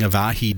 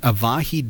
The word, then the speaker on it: avahi: like send server one is maybe not running avahi daemon which would allow it to respond by